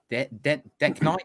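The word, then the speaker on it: DeKnight: Decknight. Is that how you say it? Decknight?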